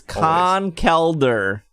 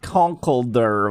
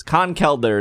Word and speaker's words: Conkeldurr: It is Conkeldurr, not Conkeldurr, which is the wrong way that I've said for many years. Conkeldurr is how you say it.